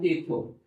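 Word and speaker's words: hijo: इसमें हमने लिखा इको इको। अब इको क्यों लिखा मैंने इसको? क्योंकि एच तो साइलेंट है और ज को प्रोनाउंस करते हैं। इसलिए वर्ड हुआ ये इको जिसका मतलब होता है सन।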